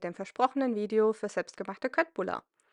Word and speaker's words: Köttbullar: Hallo zusammen, hier ist Dillspitzen mit dem versprochenen Video für selbstgemachte Köttbullar. Diese werden in Schwedischen übrigens eher wie Köttbullar ausgesprochen. Ich bleibe hier aber bei der bekannten deutschen Aussprache.